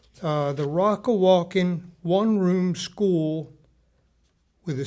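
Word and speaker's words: Rockawalkin: me let me say it right uh the Rocka walking one room school with a c 1872 which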